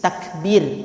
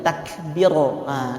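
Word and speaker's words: تكبير: Takbir, bukan takbiro. Karena ba-nya dikasih tipis, dikasih kasrah, gitu ya.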